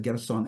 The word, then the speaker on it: Gershon: Gerson is an Americanized form of Gershon. Not necessary. Because in Greek, there is no sh sound. So totally naturally, for Greek-speaking Jews, Gershon was starting to be pronounced Gerson, and also in many